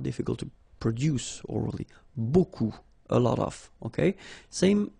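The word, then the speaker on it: beaucoup: you want to use Buu Buu means a lot of it look it looks a bit strange Buu like that remember you don't pronounce the final P okay and then you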